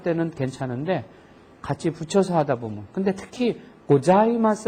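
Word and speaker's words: ございます: 혓바닥이 위 붙어야지 됩니다 사가 아니고 자 해서 혀가 붙었다가 떨어지는데 자 발음을 하는 발음하고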